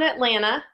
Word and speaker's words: Atlanta: I'm I'm down in Atlanta and that's yeah that's how you say it if you're from here Atlanta Atlanta there's no tea am I doing it